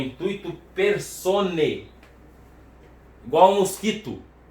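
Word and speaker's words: intuitu personae: No latim, esse AE tem som de E. Então é intuito personae.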